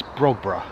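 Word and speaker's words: Brogborough: always pronounced this wrong i used to say brock right it's brogbra brogbra house it's the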